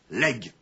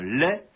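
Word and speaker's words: legs: actuelle et courante un leg il faut pourtant le répéter et rappeler la prononciation correcte un lait c'est ce que vous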